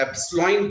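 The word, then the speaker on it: epsilon: ये कांस्टेंट जैसे वहां पर G था ना, यूनिवर्सल ग्रेविटेशन कांस्टेंट, वैसा ही ये कांस्टेंट है, इसको अपन एप्सिलॉन प्रोनाउंस करते हैं। एप्सिलॉन ग्रीक लेटर है, और ये एप्सिलॉन इज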